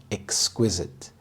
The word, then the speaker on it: exquisite: beautiful the first is exquisite exquisite the stress is on the second syllable Exquisite this means extremely